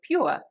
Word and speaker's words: pure: However, because RP is supposed to be absolutely correct, they will pronounce it as ua, so pure.